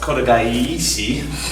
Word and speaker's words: kotegaeshi: Or sometimes you hear it pronounced kotegaeshi. That's the proper pronunciation.